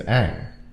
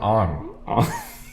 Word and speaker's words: Aang: Like, if you watch the show, the kid's name is Aang. It's very clear. They say it like a bajillion times in the show. It's not Ong.